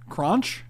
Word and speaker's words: Kronch: The H is silent.